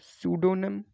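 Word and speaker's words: pseudonym: 11th में हमें बताना है करेक्टली स्पेल्ड वर्ड, तो ये पी यहाँ पर साइलेंट होता है, पहले तो मैं यही बता दूं, ठीक है। तो सूडोनिम, सूडोनिम, स्यूडोनिम या फिर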